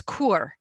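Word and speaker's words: כור: And it's kur is the word. It's kaf, vav, resh. So it's kur, and it is a furnace.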